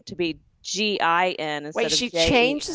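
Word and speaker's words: Ginnifer: changed the spelling of her name to be g-i-n wait she changed the spelling because people were mispronouncing her name it was like people in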